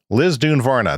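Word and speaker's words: Lisdoonvarna: electric vehicle on our trip from Dublin to Liz duvara Liz dun Varna that is how it is pronounced but I looked on Wikipedia and its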